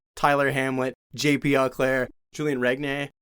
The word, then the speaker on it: Regnier: back and it's like Tyler Hamlet, JP Auclair, Julian Regnier. How do you say that? Renier, yeah.